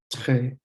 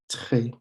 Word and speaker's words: très: And the R in French isn't a r sound. It's a it's kind of a little sound in the back of your throat where you push your tongue, the back of your tongue. You want to push the back of your tongue or close your throat a little bit so that it just lets air through and it comes out.